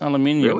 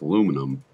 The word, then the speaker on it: aluminium: It's aluminium. Really? Is it aluminium? Okay. I like the way you say that. It's wrong. It's aluminum. No, it's not aluminum. We've been over this. It is in America.